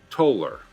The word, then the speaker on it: Toller: Toller is pronounced Toller, as in the English word molar.